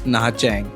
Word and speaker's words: Nha Trang: तो लिखने में ये नहा ट्रैंग है, लेकिन वहाँ के लोग इसको प्रनाउंस करते हैं नहा चैंग।